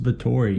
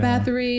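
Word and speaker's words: Báthory: how they pronounce it in the movie It's pronounced bori bori not battery not battery bori y it's played by none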